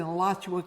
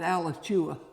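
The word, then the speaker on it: Alachua: me to explain to them how to pronounce pronounce that name. Yes. Yeah. I was raised in Elatchua County and we always knew when someone was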